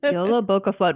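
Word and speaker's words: Jólabókaflóð: God please tell us are we pronouncing this correctly and she's like yes you're doing a good job yo boa FL YOLO boa FL what's the flavors in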